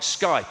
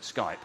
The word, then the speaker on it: Skype: I mean, for example, I think Skype is brilliant, isn't it? Skype.